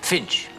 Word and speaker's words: Fynch: her information harrison fynch Finch thank you it's spelled fyn ch that smells fine sorry